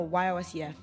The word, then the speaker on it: Yosef: No, Y-O-S-E-F. Yosef.